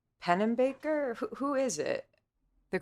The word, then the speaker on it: Pennebaker: and it's scy right no I think it's pen Baker who who is it the correct pronunciation pennebaker yes scy you're right yeah and I guess